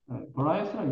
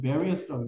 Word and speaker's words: various: varieties 종류라고 했지 다양한 various various라고 읽지 말고 이것은 various라고 읽자. various 다양한 영어의 종류들이 have emerged.